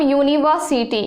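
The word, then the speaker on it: university: अब देखिए हम उदाहरण के रूप में लेते हैं, एग्जाम्पल एक लेते हैं हम यूनिवर्सिटी, एक एग्जाम्पल के तौर पे हम लेते हैं यूनिवर्सिटी, यूनिवर्सिटी।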